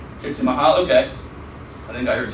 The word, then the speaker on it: Csikszentmihalyi: Does anybody know how to pronounce the gentleman's name? Csikszentmihalyi. Csikszentmihalyi? Csikszentmihalyi, okay.